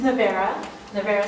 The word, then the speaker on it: Nowairah: All right, so I think I'll give it to Nowairah and she can introduce herself too. Hi, my name is Nowairah, and it's a very hard name.